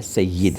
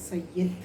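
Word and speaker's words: سَیِّد: ہیں، سب کہتے ہیں۔ صحیح تلفظ اس کا زیر سے ہے، سید ہے، سید جی، یہ میں نیچے زیر ہے، پہلی چیز۔ دوسری چیز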